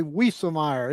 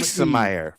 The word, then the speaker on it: Wiesemeyer: I didn't hear it, but they said they love you, but you've got to say Wiesemeyer. Emphasize the E. Wiesemeyer. From Wiesemeyer.